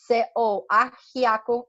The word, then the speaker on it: ajiaco: O prato típico, eu acho que eu estava falando nesse momento, é o ajiaco, que é um ajiaco, A-J-I-C-O, ajiaco ou ajiaco para vocês, mas se escreve com J.